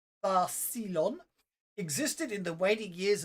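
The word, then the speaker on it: Thassilon: The ancient empire of Thassalon, pronounced Tharsilon, existed in the waning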